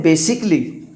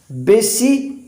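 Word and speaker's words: basically: क्योंकि हम पढ़ते हैं बेसिकली बेसली नहीं पढ़ते बेसिकली पढ़ते हैं और यह भी दोस्तों बिल्कुल सही है यह बेसिकली ही होता है इसमें ए जो होता है वो साइलेंट होता है क्लियर बेसिकली की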